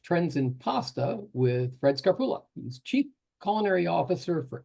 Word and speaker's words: Scarpulla: Today, we're taking a look at trends in pasta with Fred Scarpulla. I'm going to start over again. I never got the pronunciation of your last name.